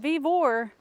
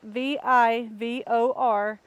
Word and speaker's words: Vevor: But I'm gonna go get Brandon's help because we have a chicken coop from Vivor. I believe that's how you pronounce it. It's Vivor.